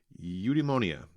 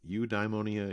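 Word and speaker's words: eudaimonia: works best for you but eudemonia you dymonia eudemonia I there's a few different ways to pronounce that but it's a Greek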